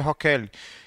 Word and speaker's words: Rocaille: Rocaille. Né? Rocaille, mas não pronuncia desse jeito. A pronúncia francesa seria Rocaille.